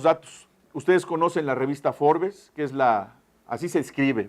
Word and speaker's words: Forbes: Ustedes conocen la revista Forbes, que es así se escribe, Forbes. Pero dicen, no se dice Forbes, se dice Forbes.